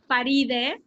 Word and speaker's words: Faride: You know, again, my name, the way you pronounce it is Faride. If you speak Espanol, it's Faride.